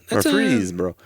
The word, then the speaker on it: Murfreesboro: Yeah, it's like put the accent on the free. Right, the accent on the syllable. That's Murfreesboro.